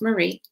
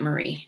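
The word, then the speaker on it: maree: It's pronounced Marie. She pronounced it Marie, not like somebody else did, and I took that as the gospel.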